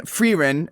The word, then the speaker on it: Frieren: And Frieren Frieren, is how you pronounce it, is one of the most fan favorite, most popular anime of all time currently.